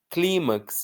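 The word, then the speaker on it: clímax: Climax, a força não está no max, está no cli.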